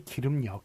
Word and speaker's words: 길음역: 그 이름이 어떻게 되나요 액 일금 이렇게 되는 게 아니라 발음이 길음역 이렇게 되죠 그렇기 때문에 기름으로 더